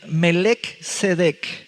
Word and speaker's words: Melquisedec: Melquisedec. Hay quienes lo pronuncian Melecedec, Melquisedec. Hay cuatro atributos de ese hombre.